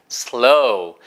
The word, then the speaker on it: slow: 그래서 number two, slow. 보세요. 로우 발음을 연습하니까 뒤에 S 발음만 보시면 되는 거죠. 이것도 슬로우가 절대 아닌 거예요. 슬로우가 아니고 슬로우. 해보세요. S 발음, 치아 갈면서 시작. slow.